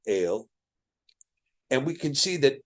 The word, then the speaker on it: El: So if we have the word El, or El is a better pronunciation, El, and we can see